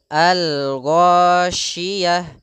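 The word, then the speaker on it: الغاشية: hal ataka haditul Ghasiyah pada lafal koin di sini ya Allah ya Allah di tenggorokan atas ya tenggorokan atas yang mendekati lidah maka oh oh jangan sampai ndak perlu kita mengunyungkan huruf bibir dalam pelafalan Shin maka cukup Al ghosyiyah terdengar seperti ada bunyi SY ya terdengar dengan musik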